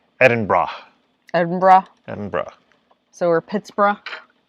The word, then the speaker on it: Edinburgh: says if you're going to edinburgh it's in pronounced edinburgh edinburgh edinburgh so or pittsburgh which you've got